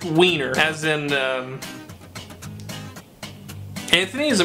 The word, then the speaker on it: Weiner: Yes, it's pronounced Weiner, as in, Anthony is a member of the U.S.